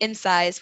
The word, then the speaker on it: Insyze: but we started our company Insize, which is spelled INSYZE, Okay.